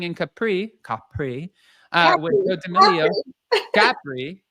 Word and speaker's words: Capri: Capri. How do you say it? Capri is how Jesse on The Valley called it. It's Capri, but he says Capri. It's his favorite.